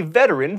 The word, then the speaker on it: veteran: be super fun Napoleon was a veteran three syllables not two of the Napoleonic Wars